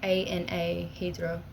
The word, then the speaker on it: Anahydra: So it's like A-N-A Hydra, but like Anahydra, but it's pronounced like Anna.